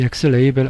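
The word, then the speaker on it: xlabel: x라벨이라고 하는 건데요. 영어로는 x레이벨이라고 읽어요. 그렇게 한 다음에 이 x레이벨 안에는 스트링이라는 재료를 넣어줘야 돼요.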